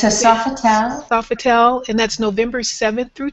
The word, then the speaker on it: Sofitel: in san francisco at the san francisco bay softel um hotel is that the correct pronunciation kathy yeah it's a sofa town sofitel and that's november 7th through 10th and it